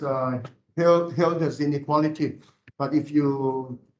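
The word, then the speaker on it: Hölder: the holderness inequality okay this is a German name the two dots on top um it's uh Hilda's inequality but if you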